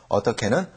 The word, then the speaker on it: 어떻게: 어떻게는 어떻게 이렇게 발음하시면 됩니다.